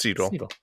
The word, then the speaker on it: Segel: It's wait, now I can't remember the pronunciation. Jason, oh my God. Jason Segel? Segel. It's Segel.